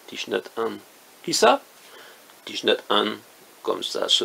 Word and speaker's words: Thich Nhat Hanh: Thich Nhat Hanh, comme ça se prononce, mais vous ajoutez un H à chaque fois que possible.